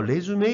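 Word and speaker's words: résumé: 은 정말 아무것도 안 될 겁니다 그리고요 단어 레쥬메 이라고 읽었죠 이거 점점 신경을 쓰셔야 됩니다 리슈 요렇게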